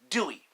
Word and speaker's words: Dewey: And his name is Dewey. Like the Dewey Decimal System. He's not related to that, but, pronounced the same way.